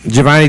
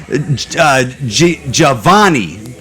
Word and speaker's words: Jhovany: name wrong man like I always feel like I want to say Giovanni well it's spelled wrong Jay HOV anyway that's not the right spelling yeah yeah my parents